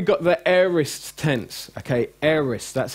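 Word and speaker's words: aorist: now now we got the arists tense okay eres that's how it's pronounced not a orest air is tense now this it basically means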